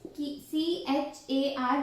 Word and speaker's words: char: using for character data type values, that is CHAR, which is we will pronunciate, that is char.